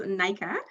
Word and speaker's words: Nika: En fait, je le prononce Nika.